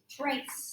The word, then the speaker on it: trace: So that way when you go home, you remember, oh yeah, that A says its name. The E is silent and the C makes a sound.